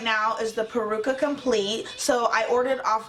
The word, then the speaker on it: peruca: but I do have the peruca peruca okay peruca that's how you say it okay hi guys